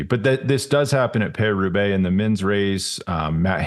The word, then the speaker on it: Paris-Roubaix: Paris-Roubaix.